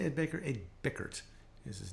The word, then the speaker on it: Ed Bickert: Ed Bickert is his name.